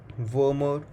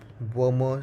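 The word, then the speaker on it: Wermer: is also known as warmer syndrome please pay a specific emphasis on the letter m as there is an another syndrome which is called a Werner syndrome spelled with w-e-r-n-e-r syndrome which is a syndrome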